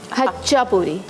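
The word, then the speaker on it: Khachapuri: इसको आप प्रोनाउंस कैसे करते हैं? हच्चापूरी। हच्चापूरी के साइलेंट। ठीक है, तो हच्चापूरी को बेक करेंगे।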